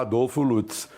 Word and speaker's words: Adolfo Lutz: Em primeiro lugar, Colombo, eu prefiro pronunciar Adolfo Lutz, porque esse negócio de Adolf me dá a gente leva um susto, né?